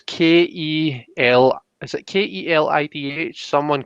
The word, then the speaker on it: Ceilidh: So like how do you spell it? Kelly or K? No, so it's Kelly.